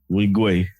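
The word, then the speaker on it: Nwigwe: Toby Wingwe. Right. Don't pronounce the N, the inside. Wingwe.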